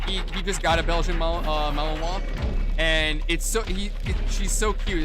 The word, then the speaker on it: Malinois: I always mispronounce it. The Belgian Malinois or Malinois.